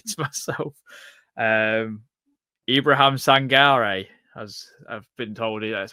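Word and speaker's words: Sangaré: Ibrahim Sangare, as I've been told, that's how you say his name from when you listen to PSV fans say it as well.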